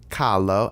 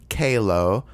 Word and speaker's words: Kahlo: the South, so like everyone pronounced Kahlo as Kalo. And I was like really annoyed. I was like, please don't butcher that name any fucking more.